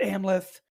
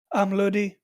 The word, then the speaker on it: Amleth: saga of of uh they pronounce it amleth it's not how you pronounce it that's a very latin pronunciation i'm gonna butcher it but i think would be like amlodi or amla i can hear that